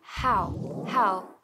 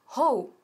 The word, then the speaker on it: how: Y tenemos aquí how. Vamos a ver la pronunciación. Nunca decimos how o how, sino how, con la boca bien abierta.